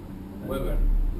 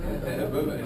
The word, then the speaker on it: Weber: Que assim se pronuncia, Weber. Weber. Weber, é alemão.